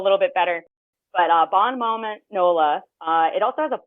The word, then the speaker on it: Bon Moment Nola: Um but the website is I'm just going to phonetically pronounce it. It's Bon Moment Nola.